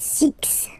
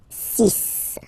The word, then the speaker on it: six: Sonic sunk sunk and be careful here because even if it's ending with this x well you'll have to pronounce it like s okay so we get the sis pronunciation sis okay so it's not six it's sis all right then here